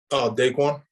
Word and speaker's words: DaQuan: DaQuan? It is DaQuan.